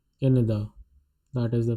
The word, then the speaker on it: Canada: España, Japan is Japon, Canada is written in the same way and the pronunciation is different. Canada, Canada, that is the pronunciation.